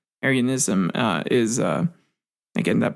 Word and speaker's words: Arianism: the way since it's not like area not like the Aryan race but arianism uh is uh again